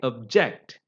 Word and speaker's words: object: on the first syel but when you use the same word as a verb you know it becomes object I object so as a verb when you use it you know the stress is on the second syllable same thing with the